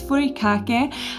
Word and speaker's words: furikake: And another favorite that I've discovered in the last couple of years is furikake, I think is how it's pronounced.